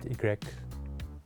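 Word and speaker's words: i grec: And when I was learning French, learning the alphabet, and the letter Y is pronounced Egrek.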